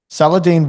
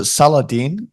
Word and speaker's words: Salahdin: Is it Salahdin or? Yeah, you said it perfect. That's the Salahdin, right way to pronounce it.